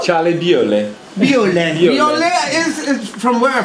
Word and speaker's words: Bewley: how do you say it how Charlie Bewley buell and you know from where from me please